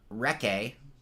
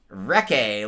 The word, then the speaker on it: recce: And recce is the actual word. Am I saying it right? Now, Yep. I thought recce was kind of a funny word because it's like recce, like a wrecker, Anyway, so yesterday everyone